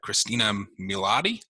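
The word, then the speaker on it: Christina Milian: so it is uh christina milatti that's how you pronounce it the mom from how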